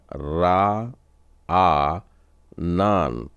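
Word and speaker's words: רענן: बार final नून है तो इसका उच्चारण हो जाएगा रा आ नान रा आ नान तो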